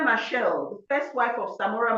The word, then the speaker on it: Machel: Our young people must go and, her name is spelled Josina. Josina, Josina, and her surname is Machel, Machel.